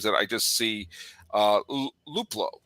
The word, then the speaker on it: Luplow: they already had um and uh uh jordan liplow was that how you pronounce his name i was that's one of those names that i just see uh luplow right i'm not saying that wrong no yeah